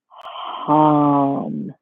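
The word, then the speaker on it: ham: for the shooter chakra is harm so it's just like with a ha at the beginning and the home is also supposed to approximate the sound of an exhale it's just that it's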